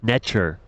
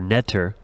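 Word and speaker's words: netjer: spirituality the concept of NTR pronounced nature or Netter holds significant importance nature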